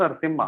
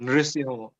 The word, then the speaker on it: नृसिंह: ये असली the pure pronunciation is Singh, Narasimha. It's not Narasimha also, it's not Narasimha, it's नॉट नरसिम्हा। नृसिम्हा बोलते हाँ, नृसिंह।